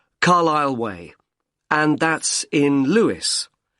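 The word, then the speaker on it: Carlisle: i s l e you don't pronounce the S Carlile way and that's in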